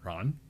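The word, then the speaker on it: Rahn: He is spelled R A H N. Ron, Air Force veteran, CEO of Warriors Next Adventure.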